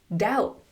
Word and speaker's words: doubt: "Doubt.